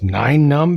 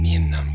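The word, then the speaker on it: Nien Nunb: me uh actually Jang it's nine num because of the number nine it's just rearranged I know I always call him nin num it's because the way it's it's spelled and this is the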